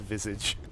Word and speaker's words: visage: Maybe it's because everybody for some reason pronounces it with the French pronunciation as opposed to the actual correct English pronunciation, which is just visage.